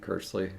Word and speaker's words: Kearsley: Is it pronounced Kersley or Kearsley? I think Kersley. That's the way I always have it. Oh, great. Logan's YouTube handle is just Logan Kersley. But the last name is spelled Kearsley. Yes.